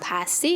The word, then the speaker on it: pasty: or michigan you know damn well that is pronounced pasty it's delicious and it has a historical significance